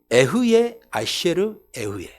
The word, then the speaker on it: 에흐예 아셰르 에흐예: 그대로 제가 읽어 드리겠어요 에흐예 아셰르 에흐예 앞에 에가 두 번 에흐예 아셰르 에에 그러니까 에가 두 번 들어가고 가운데이 관계 대명사가 들어간 거예요 발음하기도 어렵죠 에흐예 아셰르